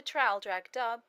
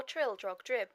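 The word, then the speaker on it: Traldragdubh: It contained a warrant for conducting me and my retinue to Traldrag Dub, or Trildrog Drib, for it is pronounced both ways as near as I can remember, by a party of 10 horse.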